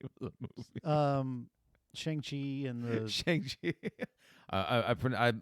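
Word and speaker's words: Shang-Chi: of the movie um shangi and the shangi I I I'm pretty sure the pronunciation is shuni thank you um but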